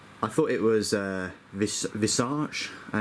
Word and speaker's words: Visarch: So you've got uh Inhan, Ira, and Visarch. Uh I thought it was uh visarch. Uh, it's so difficult to look at a word that has, you know, a r c and not pronounce it arch.